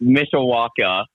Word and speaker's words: Mishawaka: Yeah, so it's Mishawaka. Mishawaka. There you go. Yeah, it's spelled weird.